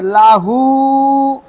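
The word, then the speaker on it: لَهُ: সবাই বলেন ওয়ামরতুহ এই দেখেন একটা শব্দ আছে লাহু ওয়ালাম ইয়াকুল্লাহু আছে না এই লাহুতে থেমে গেলাম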